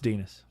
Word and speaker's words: Dinas: By the time I got about halfway through the book, I was back to calling him Dennis. No, it's Dinas. Definitely.